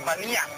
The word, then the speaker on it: Banias: Karena memang huruf Arabnya itu dibacanya B. Jadi nggak bisa dibilang Pan, dibilangnya Ban. Makanya disebut Banias.